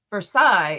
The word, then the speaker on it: Versailles: However, Versailles is pronounced for sales.